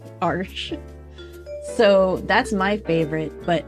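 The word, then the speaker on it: Arches: made for watercolor paper my favorite is Arch arsh I I learned how to pronounce that arsh so that's my favorite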